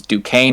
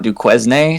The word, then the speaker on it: Duquesne: hard to pronounce and I learned a couple years ago it was Duane not Duquesne so take that for what it's worth duquez oh my God you